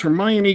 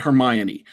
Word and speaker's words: Hermione: I myself pronounce it Hermione. I do not know how one pronounces it, but I pronounce it Hermione. Well, some people think it's Hermione. Some people are free to be as wrong as they wish.